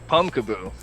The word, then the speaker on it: Pumpkaboo: so I'm going to be talking about pum pumpkaboo saying it right yeah you are pumpkaboo as you could tell by the name it